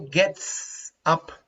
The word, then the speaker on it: gets: Gets Bonnie gets up early in the up.